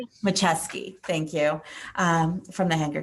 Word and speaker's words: Macheski: And we have with us also Machuski. Did I get that right? Close enough. Please say it right. Macheski.